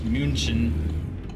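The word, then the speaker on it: München: I suppose yeah yeah German has some different pronunciations like Munich as we call it Munich in English it's munin German munin yeah and I don't even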